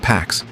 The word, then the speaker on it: P4X: He chooses P4X, pronounced Pax, a cheeky nod to enforcing peace through punishment.